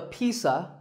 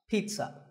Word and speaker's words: pizza: did it's not a pizza and it's not a pizza there's no sound in this word it's Pete son pizza another food word that's